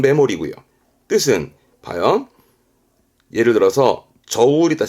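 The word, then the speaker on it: 目盛り: 메모리입니다 메모리 뜻이 뭘까이 한자는 발음도 더 중요합니다 발음은 메모리이고 뜻은 봐요 예를 들어서 저울이다 칩시다 저울 그리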